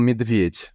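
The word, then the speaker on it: медведь: Ça se prononce "medved".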